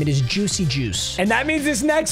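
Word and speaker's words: Juszczyk: quarterback I'm actually gonna cry let's go Kyle Juicy Juice and Yes actually I spoke to him in person that is how you pronounce his last name it is Juicy Juice and that means this next spin is our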